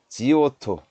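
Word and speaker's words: Giotto: 있었으니 바로 그 이름하야 조토 라는 사람이 있었습니다 여러분들 발음 주의하셔야 되어 지오토 쪄 터에 여쭤 토 예 좋던데 지오토 지오토 라고도 불리웁니다 어 2조 토란은 사람이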